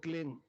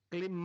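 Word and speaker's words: क्लीं: बिंदी इसकी ध्वनि निकली ग से क्लिंग क्लिम में नहीं संस्कृत में क्लिम होता है नहीं क्लिंग अंग का उच्चारण होना पड़ेगा एक क्लिंग को जपने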